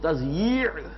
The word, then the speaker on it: تضییع: میں لکھا ہوتا ہے تو لوگ تثنیہ پڑھتے ہیں اسے، تثنیہ اوقات. یہ جو کہتے ہیں وقت کو ضائع کرنا تو وہ تثنیہ پڑھ دیتے ہیں اس کو، وہ تضییع ہے.